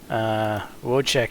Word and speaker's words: Wojtek: oh why t EK but in proper check whoa check here would be wo j tik is it